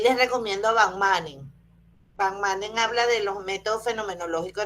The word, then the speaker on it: Van Manen: Van Manen habla de los métodos fenomenológicos hermenéuticos. ¿Cómo cómo se escribe, doctora?